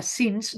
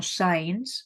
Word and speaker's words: since: Que es pronuncia since, no science, perquè science és ciència.